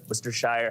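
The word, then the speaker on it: Worcestershire: a little bit of Worchester Shire wer Shire however you like to how do you say it I exactly how you just said I wer Shire wer Shire exactly Wester nailed it the brown sauce exactly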